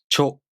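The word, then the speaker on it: ちょ: Cha, chu, cho. Cha, chu, cho. Cha, chu, cho. Let's practice pronouncing cha, chu, cho using some real words.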